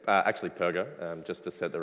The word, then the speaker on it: Perger: at roll call and they called out purger and I got really really intensely sad because I'd never heard my name mispronounced before as I was only four and I cried and that was day one but it's perer so uh on the